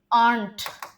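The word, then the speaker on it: aren't: They आंट ए आर ई एन एपॉस्टोफी टी इसका क्या pronunciation होता है? इसका प्रोनंसिएशन आरंट नहीं होता है। इसका प्रोनंसिएशन होता है आंट आर साइलेंट होता है।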